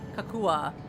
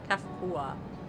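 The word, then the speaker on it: Cahciua: Kakua.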